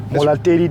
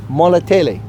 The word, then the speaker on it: Molatedi: Hey folks, this is at the, gosh, I have a hard time pronouncing this name. What's the name of this dam? Molatedi Dam. Molatedi.